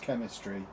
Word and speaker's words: Chemistria: Student in the school I taught at called Chemistria, pronounced chemistry.